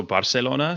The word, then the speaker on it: Barcelona: Yeah, the the th is only um Spain where they say Barcelona and and even the thing with that is that that's not even very correct anyway because in Catalan it is also Barcelona. So like in the local language it's still sounds like an S, but then you have